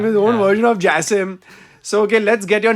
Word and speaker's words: Jasem: And Jasem. That's correct. That's the right pronunciation. Jasem.